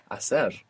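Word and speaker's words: hacer: To do or to make which begins with a silent h. Asser.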